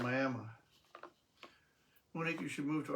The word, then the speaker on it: Miami: Oklahoma has Miami, pronounced Miami.